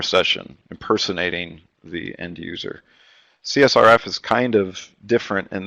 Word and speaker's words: CSRF: on the list is I guess the security folks will pronounce it as C surfing because that's fun to say it's actually csrf cross site request forgery so uh the